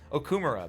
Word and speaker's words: Okumura: How do they say it? Okumura.